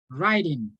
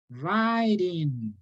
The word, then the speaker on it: writing: tip for you okay whenever you have this combination W and R don't try to pronounce this just pronounce it like this writing easy right don't pronounce the W writing easy okay wrist okay